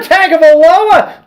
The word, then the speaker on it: Tagovailoa: There's no N in it. It's Tagovailoa. That's how it's Hawaiian. That's how you pronounce it.